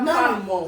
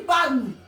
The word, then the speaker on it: palme: Non, on dit palme. Parce que le E là, c'est E mieux. Et oui. Le E en Inde là, c'est E mieux. À la fin là, donc on ne prononce pas ça. On dit le palme.